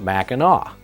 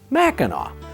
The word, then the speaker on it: Mackinac: in French is pronounced Mackinac. The English named the city, which is on the northern tip of the Lower Peninsula. They changed the spelling to the way they heard it, ending in AW, Mackinac.